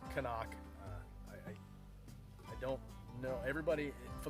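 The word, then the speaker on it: CNOC: bag here it's a Kanak and it is pronounced Kanak I don't know everybody for the longest time I thought it was C knock I just like everybody else does but it's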